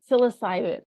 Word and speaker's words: psilocybin: yeah yeah how do you say it say psilocybin psilocybin psilocybin facilitator and I I do remember